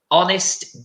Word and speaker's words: honest: dishonest okay so again even though we've got the H this is one of those words that in English we're not going it's just an open sound ah honest dishonest that's right and then